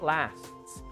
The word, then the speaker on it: lasts: So we say it lasts. A movie lasts 2 hours, for example. Okay? So we have the pronunciation, sometimes a little bit difficult. STS, lasts.